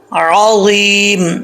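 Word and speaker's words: العظيم: عین کو پڑھنا ہے، عین ہی پڑھنا ہے، حمزہ نہیں پڑھنا. عین زبر را، را، عظیم، عظیم، وا میں سیٹی بھی نہ ہو اور موٹا بھی پڑھا جائے، عظیم.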